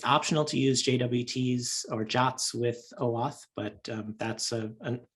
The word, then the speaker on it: JWT: particular json web tokens jwts are jots you can pronounce it as a jot and so they don't